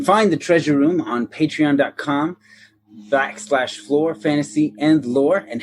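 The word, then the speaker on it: Flore: you spell that aaron that's lore with an f at the beginning so it sounds like floor but it's not the floor you're thinking because it's our floor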